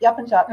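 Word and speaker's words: Yapıncak: Is that always the C is always a J? Is that in Turkish language? Yes. The C is always a J sound, unless the C has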